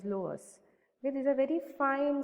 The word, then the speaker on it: loess: Okay, this is pronounced as loess.